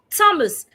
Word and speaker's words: Thomas: Thomas, the H is silent.